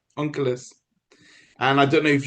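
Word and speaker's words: Onkelos: This person his name is Ankulus. It's in English it's spelled O N K E L O S something like that. Unkulus.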